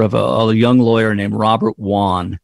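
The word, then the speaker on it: Robert Wone: a young lawyer named Robert Wan and it's spelled w-o-n-e Robert Wan and Robert was murdered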